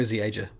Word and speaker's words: Zieja: It's Joe Zieja. Or Zieja, I think it's pronounced.